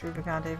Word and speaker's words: Rubicante: name kogo kazio something the only one I'm sure of is rubicante who hasn't had his name introduced yet but I know it's rubicante because I looked up all